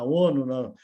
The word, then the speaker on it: ONU: Nós ONU. temos a pronúncia bem, Para nós mas aqui nós falamos ONU. A gente coloca o acento no O, e vocês colocam o acento no U, é isso?